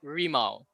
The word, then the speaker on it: RIMAU: RIMAU Racing, am I first of all pronouncing that correctly? Yes. No. Yes. No. Yes. No. It's more of RIMAU.